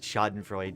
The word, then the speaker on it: Schadenfreude: But yeah, like, I've never heard it with the E pronounced at the end. Like, maybe like once or twice, but like the vast majority of times, it's just Schadenfreude for me.